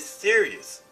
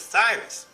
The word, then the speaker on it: Sirius: The star called, they pronounced it Sirius, that was worshipped by the ancient Egyptians. But this is wrong. This ain't no damn Sirius. This is Cyrus.